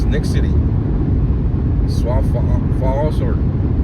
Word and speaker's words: Sioux Falls: How do you pronounce that? Sioux Falls Sioux Sioux Falls? Sioux Falls Makes no sense. Sioux Falls Why would you add an X to it?